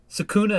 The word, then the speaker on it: Sukuna: know sua who's sakuna sakuna is how you actually pronounce it that's yeah that's actually how you pronounce it but we just say it differently all right round two